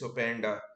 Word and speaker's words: Openda: also going off sorry it's not P it's opanda who's going just pronouncing it wrong and it's Benjamin sasco